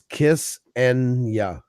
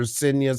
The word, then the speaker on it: Xenia: If you did it phonetically, it's Kiss Enia. Kissing you. Yep. Okay. Okay. You know it. Kiss My parents can't say her name properly this day. They call her Sinya since the day they